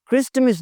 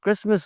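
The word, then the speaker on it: Christmas: क्रिस्टमस नहीं होता, क्रिसमस होता है।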